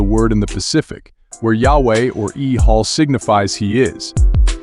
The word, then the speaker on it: Yahweh: made it up phonetically the Y is sounded as e it's also the same